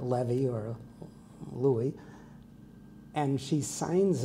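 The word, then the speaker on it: Lewy: l e w y which would have been pronounced Levy in German and it's crossed out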